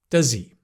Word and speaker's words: does he: Does he? Right? Forget about the H.